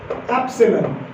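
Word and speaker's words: epsilon: क्या है ये, दिस इज, क्या प्रोनाउंसिएशन है इसकी, इसकी प्रोनाउंसिएशन है एप्सिलॉन।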